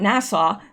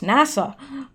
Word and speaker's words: NASA: girl to NASA NASA somebody said it's not Nassau Nassau is in Barbados it's NASA I know that I